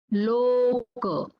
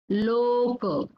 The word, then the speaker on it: loka: Similarly, for O, this is long here. Loka, Loka, and Dosa, Dosa. Loka means the world, universe. That is called as Loka.